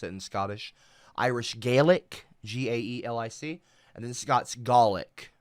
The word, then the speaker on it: Gaelic: in Scottish Irish galic G AE l i c and then Scots garlic it's like kind of like you're saying garlic without the r Gaelic and Golic um